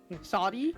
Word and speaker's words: Shady: Shoddy? Isn't it Yeah. shady? It's supposed to like give out that pun, but you would pronounce it as shoddy.